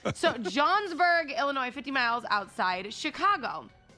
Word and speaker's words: Johnsburg: Illinois which is about 50 miles outside Chicago Johnsburg have you ever heard of that oh yeah